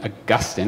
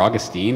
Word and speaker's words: Augustine: to a guy named augustine or augustine if you depending on where you're how you pronounce his name um actually gives a